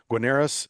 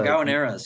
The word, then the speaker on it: gaoneras: I think it was the Guaneras that is Oh, Gaoneras, yeah. Guaneras. Sorry, yeah, mispronunciation there.